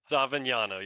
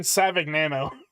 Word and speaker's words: Savignano: Savignano, yeah, the G is silent. I was saying Savignano.